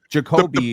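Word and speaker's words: Jakobe: You said Jacob. No, you didn't. That is short for Jacoby. You know what? Jacob E. Okay. Anyway, okay. Whoa, Jacoby.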